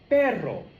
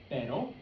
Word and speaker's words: perro: Perro. Perro. Perro. Perro. And there is a difference. Pero, perro. Pero, perro. Okay?